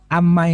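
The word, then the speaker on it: عمّ: Kalau dari susunan amma ini sebetulnya dari kata-kata an dan ma panjang. Akan tapi kalau dari kaidah membaca tajwid itu kan nun sukun ketemu mim itu jadi idgham bi gunnah, sehingga bacanya amma.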